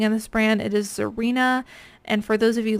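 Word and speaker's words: Xirena: pretty much anything in this brand it is zarena and for those of you listening and can't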